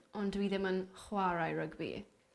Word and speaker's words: rygbi: Dwi'n hoffi rygbi, ond dwi ddim yn chwarae rygbi. Is that right? Is that how you say it? Perffaith.